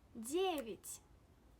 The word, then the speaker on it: девять: Where does the stress fall? Девять. Девять. Девять means 9. Девять. Yes, the stress falls on Ye. Because it falls on Ye, we don't pronounce it as девять. No. We pronounced E when the stress does not fall on Ye. In this case, have a look at the vowel Ya. Девять. Ya is unstressed. That's why we pronounce it as E.